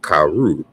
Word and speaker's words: caro: But in the Portuguese, we notice that it's pronounced caru, even though it's spelled with an O.